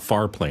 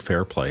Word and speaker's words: Farplay: We're talking about Farplay, not Fairplay, and our friend who has come on the show is and fabulous.